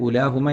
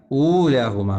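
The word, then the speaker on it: أُولَاهُمَا: ഉണ്ടെങ്കിലും ഉച്ചാരണത്തിൽ വരില്ല എന്നർത്ഥം നേരെ മറിച്ച് വ്ദു ഊലാഹുമ നോക്കൂ അവിടെ ഉലാഹുമ അല്ല ഊലാഹുമ വേണം ഇവിടെ ഇത് രണ്ടും പ്രത്യേകമായി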